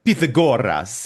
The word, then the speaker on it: Pythagoras: the game where uh they pronounce everything in like the proper Greek way even though they're speaking English. So someone someone is like referring to Pythagoras and it's like Pithagoras or like it's